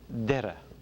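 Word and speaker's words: Doire: Derry, Derra.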